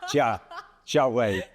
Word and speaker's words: Jia Hui: How bad was my pronunciation of your name? I think it's really good. Jia, I don't know. It's good. Jia Hui.